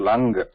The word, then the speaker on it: लङ्: लङ् not lung. Some of are written like lung, like this, or lung. It's not lung. There's no g, just lung.